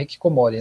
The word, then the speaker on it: hikikomori: Eu pronunciei correto? É hikikomori, né?